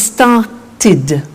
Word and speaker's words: started: group is actually easy if a verb ends with a T or D then the pronunciation of II D becomes it and in fact it's impossible to pronounce it any other way take an example start it becomes started started not started started ok so what